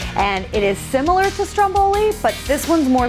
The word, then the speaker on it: stromboli: and funny thing too we pronounce it the same way here as they would the volcano in italy so stromboli i'm working on my italian accent all right we've got